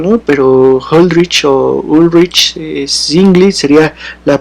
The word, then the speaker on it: Ulrich Zwingli: Ulrich Zwingli. No sé si todos lo escucharon, va de nuevo. Ulrich Zwingli. Así se pronunciaría, perdón, el nombre de este personaje.